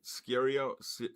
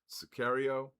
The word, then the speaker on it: Sicario: Scario serial.